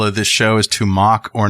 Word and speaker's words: Moq: uh the title of this show is to mock or not to mock moq so a popular open source project called mock it's pronoun it's pronounced m-o-c-k but it's moq criticized for quietly